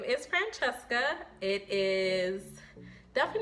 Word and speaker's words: Francesca: It's actually pronounced Francesca, but a lot of people can't say that, especially when you're in kindergarten. So early on, I recognized that it was a little bit difficult for some, and I went about it in the American way to say it, which is Francesca.